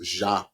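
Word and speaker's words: Zhané: So shout out to Zhane, pronounced Zhane.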